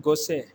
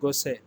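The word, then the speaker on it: Gosset: popular champagne brand is called gosei here t-word is silent again i'm repeating it is called gosei it is again champagne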